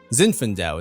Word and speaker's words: Zinfandel: Zinfandel is how you say that.